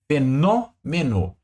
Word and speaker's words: fenômeno: fenômeno olha aqui família olha aaba tônica aqui ó fenômeno ou seja última no penúltima me antepenúltima Então essa aqui é uma proparoxítona mesmo meteorológico Olha lá lógico antepenúltima